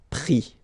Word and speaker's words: pris: And then prendre, so ENDRE, will give ES, pris, okay? Same thing here. You don't pronounce the final S, okay?